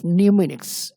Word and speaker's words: mnemonics: इसमें mnemonics, mnemonics, इसमें m silent होता है।